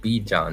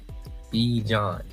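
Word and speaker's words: Bijan: He finally found out it's be John, not B, but be John. That's how it's pronounced.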